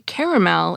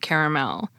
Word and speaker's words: caramel: call them caramel apples Gardner's modern American usage acknowledges three pronunciations for the word saying caramel is best caramel is